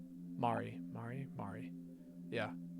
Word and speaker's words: Mari: I should have been there for you when we lost Mary. Mari. Mari. Mari. Yeah, people have been telling me it's pronounced Mari.